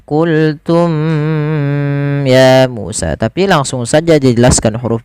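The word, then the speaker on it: قلتم يا موسى: Izhar syafawi berarti membacanya dengan jelas suara mimnya tanpa ada menahanan. Tidak dibaca dengan qultum ya Musa, tapi langsung saja dijelaskan huruf mimnya, qultum ya Musa.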